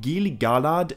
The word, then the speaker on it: Gil-galad: before I go on I anticipate there may be one or two people getting ready to tell me that I'm mispronouncing gilgalad it's not an easy name to get right but I think Gili galad is how Tolkien would have said it my main